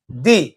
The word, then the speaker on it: the: এর পূর্বে যেহেতু টি এইচ ই আছে তাহলে উচ্চারণটি হবে আমাদের দি ঠিক অনুরূপভাবে অরেঞ্জ বানানোর প্রথম অক্ষরটা দেওয়া আছে